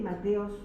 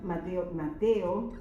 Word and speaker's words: Mateo: que crucificó al Señor Mateos 12 del 34 del 39 al 45 eso lo podemos ver Mateos capítulo Mateo tengo que recordar que no es Mateos en Mateo Mateo vamos a ver del